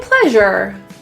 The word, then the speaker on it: pleasure: My pleasure. The S in this word is pronounced as a Z. It's kind of like an SH with your voice on.